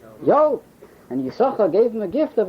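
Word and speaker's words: Yissachar: Tosfos says he only pronounced one sin of Yisachar.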